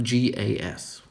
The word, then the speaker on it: gas: don't remember this but for gas we open the mouth vertically and for guess it's